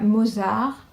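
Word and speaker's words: Mausart: Et là, Mozart, qui en fait s'écrit M-A-U-S-A-R-T.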